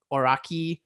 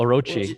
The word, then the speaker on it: Orochi: even know how to say it yamata no oraki oh orochi that's the that's the eight-headed dragon oh wow